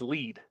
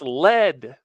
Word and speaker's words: lead: real person until he incorrectly pronounced lead 3 times in a row as lead. He said the lead of a pencil, a lead shield, and a lead brick. And it's like, that's lead, the element.